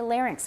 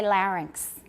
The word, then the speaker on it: larynx: old pronunciations from before so in the in the midwest we say larynx we don't say larynx okay in midwestern we